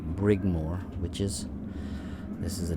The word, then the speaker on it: Brigmore: of the brigmore witches i was pronouncing it wrong earlier bridgemore i believe dowd's uh character actually said brigmore which is this is